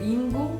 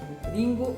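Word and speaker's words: りんご: Parce que par exemple, si on prend le R en japonais, il se prononce plutôt comme un L. Donc Ringo, c'est même je dirais entre un R et un L. Ringo o taberu.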